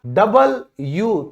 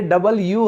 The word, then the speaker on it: W: दो यू को जोड़कर इसे बोला गया था डबल यू, तो इसको लोगों ने WWW कर करके W बना दिया, ये W नहीं होता है, ये डबल यू है, ठीक है, थोड़ा ध्यान से।